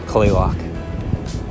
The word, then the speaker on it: Kalaloch: I think it's something like Kalaloch. But here in Washington, we just call it Clayloch.